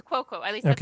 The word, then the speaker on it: Cuoco: It's Cuoco. At least that's how I've always pronounced it.